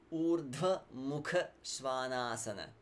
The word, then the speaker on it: Ūrdhva-mukha-śvānāsana: Keep in mind the length of the vowels as I say śvānāsana, okay? And try for that aspiration as much as you can. Ūrdhva-mukha-śvānāsana. Yeah, you don't need to rush. You can pronounce it slowly. The main thing is the quality of the sounds.